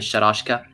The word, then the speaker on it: Shalashaska: Infatti il cognome Sharashka è il come sarebbe la pronuncia corretta di Shalashaska, che è il nome che utilizza Ocelot di Metal Gear Solid 2.